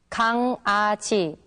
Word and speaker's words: 강아지: 강아지, 강아지. 좋아요, 좋아요. Can you tell the difference between the 2 words? Well, when the characters iung and iung meet back to back, then they are pronounced separately.